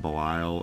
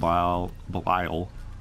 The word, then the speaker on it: Belial: As long as I remember to use that Book of Belial. Belial. How do you say Belial? Book of Belial? That's right.